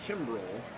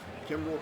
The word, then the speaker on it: Kimbrell: The Cub closer, Craig Kimbrell. That's a lot of hard C sounds right there.